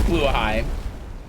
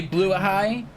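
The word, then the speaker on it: Blåhaj: When I say Blue High, I'm pronouncing it better than anyone else because everybody else is, oh, you mean Blahaj?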